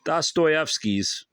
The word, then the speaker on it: Dostoevsky: In the small wing of the Mariinsky Hospital where the Dostoevskys lived, I read that's how it's supposed to be stated, pronounced Dostoevsky, lived with their 7 domestics.